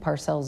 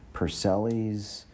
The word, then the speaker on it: Parcels: butcher my last name I don't think Parcels is that difficult it's not it really isn't but I've had people say pelis parcel's but when you're emailing